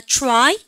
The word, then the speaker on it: try: 발음을 다 try 그죠?